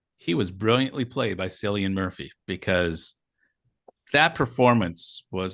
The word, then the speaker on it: Cillian: As a Peaky Blinders fan, coming back from Ireland, I thought you would have got that right, but it's a hard C. Cillian. It's a K.